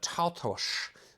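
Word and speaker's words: Taltos: Another recent one is the Vlad Tautosh series, which is the correct pronunciation apparently.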